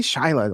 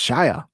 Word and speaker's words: Shia: So clearly Shil Shia is when they say Shila when they say his name they say it with an L, but there's no L in his name. It's Shia.